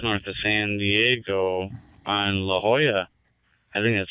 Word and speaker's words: La Jolla: my daughter down there I'm very familiar with La Jolla and yes he said it right and there's